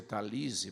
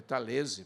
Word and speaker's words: Talese: O Gay Talese escreveu muita gente pronuncia Talese porque ele é americano, mas é Talese porque o nome dele é italiano.